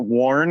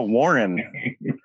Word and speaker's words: Warren: completely off topic, but did you know that Warren is a single syllable word? Because you say it very Southern. You go Warren. Warren? You make a single syllable word 2 syllables, and I love it.